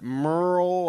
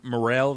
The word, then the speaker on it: Murrell: I mean, it's two syllables, I suppose, technically, but Merle... I remember working with you, and people would... Is Mr. Morrell there?